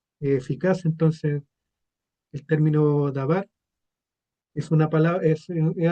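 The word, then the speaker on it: דבר: El verbo también dice, el verbo fue hecho carne y la palabra verbo en hebreo es se pronuncia dabar o hadabar, el verbo.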